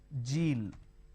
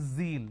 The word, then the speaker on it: zeal: It's not Jeel, it is zeal.